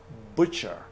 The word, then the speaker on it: butcher: the correct answer is butcher II is the butcher it's bu t CH ER t is silent you don't pronounce it okay you just say